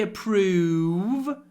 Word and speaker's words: approve: approve of my job when you say approve try to get a good try to make two sounds e not just o but e they don't approve